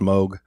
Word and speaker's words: Moog: synthesizer that was invented by uh dr bob bogue yes it's pronounced moog um and and it's kind of kind of